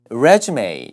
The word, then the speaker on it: resume: 그래서 resume 뒤에가 A 발음, 이력서 내가 봤지, 검토했지.